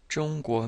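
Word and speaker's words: 中国: we have uh Jong jonga means China so this zh in the pinion uh actually sounds kind of like a a g like the G and merge but with the tongue curled so it's like the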